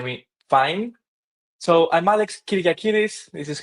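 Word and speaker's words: Kyriakidis: So I'm Alex Kyriakiris. This is how you will pronounce this.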